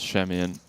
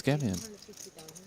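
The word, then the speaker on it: Schemion: If I was there, I called It's Shemian. Apparently Ollie said it is Skemian.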